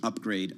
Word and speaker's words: UPGR: me over here yes the ticker symbol is upgr pronounced upgrade no pun intended or